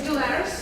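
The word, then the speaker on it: D'Aulaires: It's called like Daulaires, How do you pronounce that? It's Daulaires. Daulaires, okay, that's so close.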